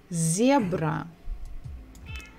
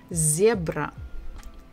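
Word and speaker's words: зебра: book is a zebra so we stressed the first syllable zebra zebra next letter is quite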